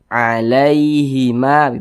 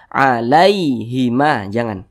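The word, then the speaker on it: عليهما: berarti huruf Lin nah cara membacanya itu mudah dilunakan saja ya tidak memberatkan lisan nah alaihima mudah jangan ditekan-tekan jangan dibaca alaihima Jangan ditekan seperti itu mudah dilunakkan dia dilunakkan lembutimaitu jangan dibaca alaihima Nah itu kurang tepataiimaah kemudian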